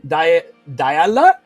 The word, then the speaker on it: Diala: So I do believe it's not O, it's A. Diala.